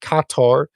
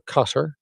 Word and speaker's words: Qatar: Because I've read that Qatar or Qatar for our US viewers who can't pronounce it correctly because it's with an A,